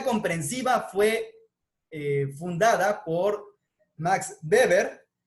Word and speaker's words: Weber: fue fundada por max weber aunque recuerden que se escriben webber por cuestiones del idioma pues obviamente en alemán se pronuncian beber imax beber va a